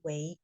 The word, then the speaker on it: 为: Makanya dia dibaca Wei nada dua ya, menjadi.